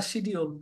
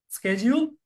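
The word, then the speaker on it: schedule: আগে থেকে toast nice স্কেডিজউল বা শিডিউল দুইটাই রাইট একটা হচ্ছে আমেরিকান একটা হচ্ছে British স্কেডিউল শিডিউল next one is pizza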